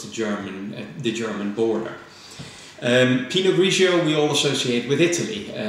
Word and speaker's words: Pinot Grigio: but they're actually not they are the same variety just different pronunciations of it pinot gris is the French pronunciation in a ratio of the Italian pronunciation he knows that the